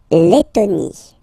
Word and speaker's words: Lettonie: La Lettonie. So remember when you get this E and then a double letter like that, T, okay, then you will have to open your E and it will become Lettonie.